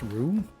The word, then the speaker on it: Ryu: Actually, his name is pronounced Rue. Didn't you know? It's just Rue. It's not Ryu. It's not Ryu. It's Rue. Okay, these fuckers are coming out of nowhere.